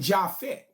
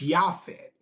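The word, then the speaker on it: Japheth: was shim ham and jafet but as I have taught y'all in this class there was no letter J before 1524 so the correct pronunciation of his son's name is yafet that's the way the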